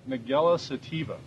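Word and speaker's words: Nigella sativa: ahead you said I know you said you pronounce it better mugello sativa and it is a very potent spice and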